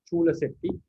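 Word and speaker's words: Cullaseṭṭhi: Chulla Setti Jataka, the first Vagga, we can find this word Chulla Setti or Chula Setti. We can have two words. Mostly in Myanmar, they pronounce Chula Setti.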